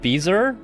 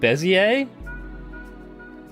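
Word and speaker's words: Bézier: You You pronounce it Beaser, not Bezier.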